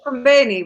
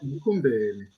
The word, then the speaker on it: Mkumbeni: No, you pronounce M. It's called Mkumbeni. If you are speaking English, you will pronounce the M. English will say Kumbeni. But in our language, you pronounce each and every alphabet there.